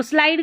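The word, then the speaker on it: slide: तो स्लाइड का मतलब होता है फिसलना। इ का यहां पर भी स्लाइड में भी उच्चारण नहीं हो रहा है।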